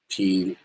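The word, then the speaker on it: Pigliucci: His name is Mas Masimo Puchi. The G is silent. Puchi plei.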